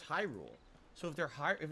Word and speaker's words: Hyrule: high I don't know it is Hyrule right it's not hero it's Hyrule so if they're higher if it's Hyrule why are they hyruleans